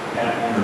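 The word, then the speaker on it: Paton: His name is P-A-T-O-N. They pronounce it Patton or Peyton.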